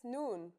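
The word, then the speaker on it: نون: I in Arabic that's noon the noon is pronounced just like the English n pretty easy right it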